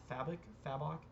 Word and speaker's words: Fabok: Fabok is how you say his last name.